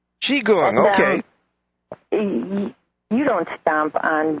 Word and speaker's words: Qigong: It's pronounced Qigong. Qigong, okay.